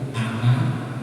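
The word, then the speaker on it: أنا: Tapi dalam ilmu baca Quran kalau anak itu dibaca pendek loh. Lek ora ngerti kan yo gak sesuai kaidah. Ana itu aslinya. Tapi kalau di Quran kita menemukan kata itu bacanya pendek. Wala ana abidumma. Enanya itu tulisannya panjang tapi bacanya pendek.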